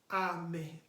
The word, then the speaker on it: Ame: Ame. Ame is spelled as A-M-E.